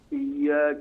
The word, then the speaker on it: إياك: ولا تمد الياء من إياك واسرع بها النطق وراع فك. إياك نعبد وإياك نستعين.